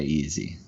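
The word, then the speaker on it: Eze: He wants Vass's scouting report on Eberechi Easy. Okay, am I pronouncing that wrong?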